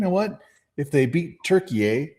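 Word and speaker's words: Türkiye: It's So when when did it become Turkey, eh, by the way? That was a weird thing. I just thought they were Turk, but I guess apparently that's that's that's their proper pronunciation of the of their country, so.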